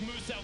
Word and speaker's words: Musa: Now, Musa wants Fish you to know his name is Musa. pronounced as Musa, the Australian-based Oh, content Musa, creator because I down there.